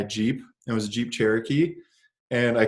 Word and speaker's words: Cherokee: said oh it's a it's a Jeep cheerio key and the guy just started the guy started laughing he was like do you mean Cherokee I was like oh